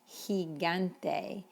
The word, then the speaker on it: gigante: In fact, when it's followed by the letter E, it's an H sound, like generoso or gigante.